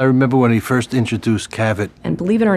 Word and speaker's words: Cavit: had a problem pronouncing Cavit. David was inspired to bring in Dick Cavett, a very popular late-night television host. They produced television, radio advertising, all with the tagline, "Ask for Cavett, as in Cavett."